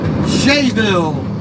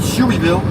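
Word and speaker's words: Shueyville: Swisher, Shayville. Unless they want to pronounce it Shoeyville. I think it's pronounced Shayville, but if we're lucky, they got the accident cleaned up and they got it off the highway.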